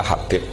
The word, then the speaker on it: Habib: Itu ada yang nulis Hubab. Yang benar, oh enggak, yang benar itu bacanya Habib. Habib itu As-Sulami, itu ikut marga Robi'ah.